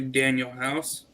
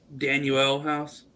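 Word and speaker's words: Danuel House: If you were a true Sixer fan, you would know his name's not actually Daniel House. It's Daniel House. There's a U.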